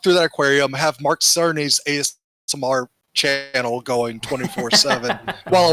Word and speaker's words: Cerny: I called Mark Cerny Mark Kearney last week. I realized that a couple days ago. I was like, oh shit, that's not how you say his name.